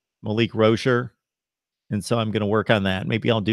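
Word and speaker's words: Rosier: of the season because I'm so used to saying Malik Rozier that I'm trying to say Rocher Malik Rocher and so I'm gonna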